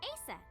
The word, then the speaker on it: Isis: Horus's mom is named Isis, Right? but in ancient Egyptian, it's pronounced closer to Ise or Aset.